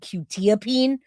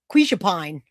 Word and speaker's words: quetiapine: makes me laugh because it's actually called quetiapine or Seroquel. But we called it quishapine. Thank you, Michelle. You guys are awesome. That's our joke. Now that I know how to pronounce it, it's not funny anymore.